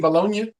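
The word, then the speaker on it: Bologna: Aston Villa and uh how they bolog FC bolognia is is how they pronounce it yep that's exactly yep yeah uh I was watching ason Villa in FC bolognia as you sent me that text I turned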